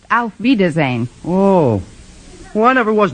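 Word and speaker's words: auf Wiedersehen: actually the word you have in mind is pronounced Alf vazan oh well I never was much good at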